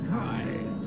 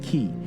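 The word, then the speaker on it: χ: The Greek letter for chi or kai. But we're not gonna pronounce it that way, are we clear? You think these writers don't know what they're doing? Xehanort says flat out that it could be pronounced differently. Key, the most ancient word. Some say kai, but the meaning is the same. But we're gonna pronounce it key.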